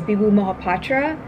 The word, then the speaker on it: Bibhu Mohapatra: The way people here pronounce it is Bibhu Mohapatra, but the Desi in me knows a little bit better.